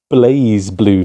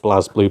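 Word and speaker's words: BlazBlue: that one wrong uh this is called blaze blue not blaz blue but blaze blue blue Continuum Shift um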